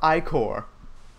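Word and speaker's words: ichor: with myth with magical echo or that's pronounced Oh Ike or whatever you choose your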